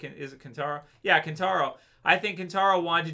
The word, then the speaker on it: Kentaro: Yeah, Kentaro.